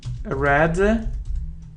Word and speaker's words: read: secretary read his correspondence read red red his secretary read his correspondence but reads in present simple he said read his correspondence in present simple but read in past simple okay we swim in